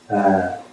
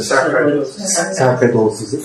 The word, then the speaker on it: sarcoidosis: Sarcoidosis, that's how you pronounce it. Sarcoidosis.